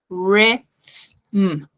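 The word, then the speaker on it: rhythm: que é dan nada esse primeiro h a gente esquece com ele o y vai ter um som de i então re mas tem um th e esse th a minha língua tem que vir no meio dos dentes e depois um M portanto os lábios vão ter que encostar então RM RM RM ok Fica bem natural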